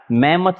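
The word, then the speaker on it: mammoth: मैमथ इसका pronunciation, आप इस वर्ड को ध्यान से रखना याद, मैमथ कहते हैं इसको। हमने चाहे भले इसको मैम की मौत पढ़ा इस तरह से, लेकिन आप इसको मैमथ पढ़ना।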